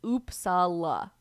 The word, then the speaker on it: Uppsala: Optimistic Living is saying in our locals chat, the pronunciation is Uppsala. Uppsala.